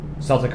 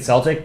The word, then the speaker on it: Celtic: it Celtic Celtic heart so I always confuse Celtic and Celtic because there's a basketball team in Boston called the Celtics um spelled the same and then the Celtic like region and people and languages are Celtic so forgive me uh